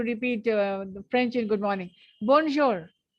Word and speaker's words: bonjour: writing it down bonjour this R is not pronounced the last consonant is never pronounced in French and this J is z s h J B you will not pronounce the N also bour or or it